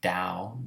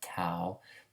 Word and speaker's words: Tao: spellings are correct but it's pronounced dao not tau taoism like confusionism taoism